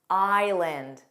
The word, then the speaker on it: island: Let's review words with a silent S: island. Another word that students find difficult because of the spelling.